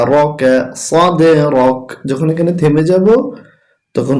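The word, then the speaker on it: صَدْرَكَ: এখানে দেখুন একটি তীর চিহ্ন আছে, তাই কলকলা করব। সদে র জবর র, কাফ জবর কা, রকা সদে রক।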